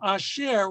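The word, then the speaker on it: אֲשֶׁר: khat of pata right it's it's really a combination of this vowel and the schwa really it should be a schwa we won't go into the whole grammatical issues that are involved with that but in order to make it uh easier to pronounce it takes the sound of ah so a share which means who or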